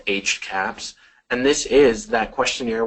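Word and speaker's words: HCAHPS: actually it is so it's pronounced HC caps and this is that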